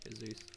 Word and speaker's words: Heyzeus: Heyzeus. Got to pronounce it right.